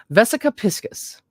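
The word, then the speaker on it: vesica piscis: say it vesicopisses pisces it's probably pisces right like pisces for fish um this one is the one where i learned pronunciations okay vesica vesica pisces capiscus vesica piscus vesica piscus cool it's piscus all right piss vesica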